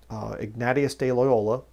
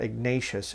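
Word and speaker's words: Ignacio de Loyola: thing in the 1540s Ignatieff de Loyola that's the correct way to say it by the way - he was Spanish so it's not Ignatius it's a nati Asst I get people making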